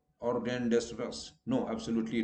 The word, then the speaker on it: rendezvous: Where Z is silent, rendezvous. Okay, so you don't, we wrongly say rendezvous. No, S is in any case silent, but here Z is also silent. So it is rendezvous, not rendezvous or rendezvous.